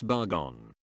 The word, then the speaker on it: Barugon: And yes it’s pronounce <Bar-Gone>, because the middle u is silent in a three-syllable Japanese word.